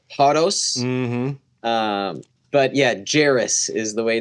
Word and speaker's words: Jaros: Um but yeah, Jaros is the way it's pronounced, so nicely done. Thank you. I'm sure in if you go into European settings, they might pronounce it Jaros or something like that.